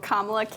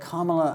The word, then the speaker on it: Kamala: But Kamala and Kamala, it's sort of like the difference between someone saying Benjamin and Benjamin. It's like just the emphasis on a different syllable.